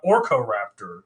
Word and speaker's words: Orkoraptor: speaking of gollum and smaug we're talking about orco raptor today uh it doesn't actually have anything to